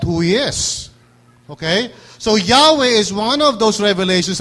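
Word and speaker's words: Yahweh: You know, it should be pronounced with a gutteral sound. Yahwe.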